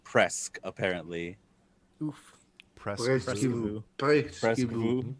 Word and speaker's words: presque: So pesque is I've almost seen this. I can't fucking figure it out. That's cool. Sweet. Good old Very cool. French. Also, presque is pronounced presque, apparently.